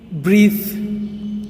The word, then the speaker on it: breathe: Second word is breathe. Breathe.